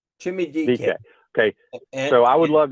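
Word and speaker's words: Chimere Dike: His name is Shamir, but they call him Chimmy. And his last name is DK. Chimmy DK.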